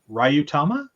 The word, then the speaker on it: Ryuutama: We'll also discuss, and I'm going to pronounce this wrong, so Ryutama? Yeah. Yeah, I pronounced it right.